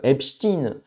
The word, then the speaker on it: Epstein: Euh l'autre qui qui avait une île privée avec des gosses dessus, on dit Epstein. Voilà. Mais on dit Einstein. C'est vrai que c'est assez intéressant. Pourtant, ça s'écrit de la même manière.